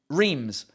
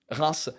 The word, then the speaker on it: Reims: Oh, incidentally, talking about mispronouncing place names, how about the English pronouncing Reims? Race, for as long as it's existed, Reims, known to the English...